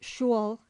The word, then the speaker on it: school: vulgarly pronounced shule in the west of England.